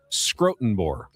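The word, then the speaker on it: Schrotenboer: Brent Scrotenbor used to write for the UT. That is how you pronounce What's his last name? Scrotenbor.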